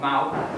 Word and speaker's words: MOU: It's called MOU, which is pronounced M-O-U.